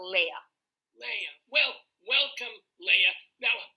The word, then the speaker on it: Leah: I grew up, and I later adapted to Leah.